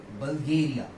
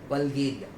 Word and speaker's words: Bulgaria: बल्गेरिया, बल्गेरिया। In this name we will pronounce it एज AAS आ। तो यहाँ पर हम इसको प्रोनाउंस कर सकते हैं और इसका सही प्रोनाउंसिएशन होगा बल्गेरिया, बल्गेरिया।